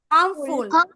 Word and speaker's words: harmful: Letter silent হবে, don't pronounce this আর। বলো হার্মফুল 10 Times, হার্মফুল, Harmful.